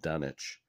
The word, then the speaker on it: Dunwich: 1945 I noticed that they they pronounce it done itch I remember when I